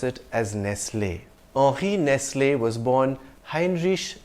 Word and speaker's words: Nestlé: founder Henri Nestlé, and his surname has an acute accent on the E at the end, I would pronounce it as Nestlé.